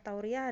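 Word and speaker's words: تورية: Tauriyah adalah wa fihi dobit wahid. Hanya satu kaidah juga, yaitu maknanya saja. Tauriyah itu iya-nya tanpa tasydid ya. Tauriyah gitu bacanya. Bukan tauriyah, bukan. Tapi tauriyah.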